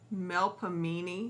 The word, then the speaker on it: Melpomene: Oh, Melpomene.